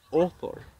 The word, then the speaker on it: author: Autor se dice author. Author. O, author. Author. Eso es una O pura, author.